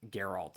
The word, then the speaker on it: Geralt: Witcher Geralt and uh I think Geralt I don't know why I said Gerald. I know how to pronounce that.